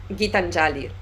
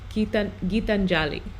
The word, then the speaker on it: Gitanjali: pronounce her first name? Gitanjali. Gitanjali.